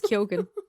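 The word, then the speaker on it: Keoghan: surname and also like GH usually you don't pronounce the G but he's been giving interviews and calling himself Barry kugan and everyone's like okay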